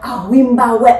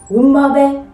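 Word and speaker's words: Wimoweh: J'aimerais vous apprendre à ne plus mal prononcer le mot Awimbawe. Non, ce n'est pas Awimbawe, non. Mais c'est plutôt Wimbawe. Wimbawe, c'est en zoulou.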